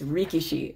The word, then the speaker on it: Rikishi: of Pentacles, which I already forgot how to pronounce it. It's Rikishi of Pentacles.